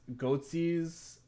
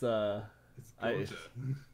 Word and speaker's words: Goethe: He has Goetze's 1828 Faust with illustrations by Delacroix, with carved letter binding. That's definitely not pronounced Goetze. That's a totally different thing. I know. It's Goethe.